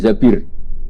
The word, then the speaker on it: Zabir: Kemudian saya nikah sama Abdurrahman bin Zabir. Di hadis ini bukan bacanya bukan Zubair tapi Zabir. Abdurrahman bin Zabir.